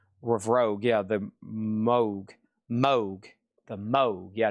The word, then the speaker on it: Moog: Over here we have Robert Moog himself explicitly stated his name rhymes with Vogue Rogue. Yeah, the Moog.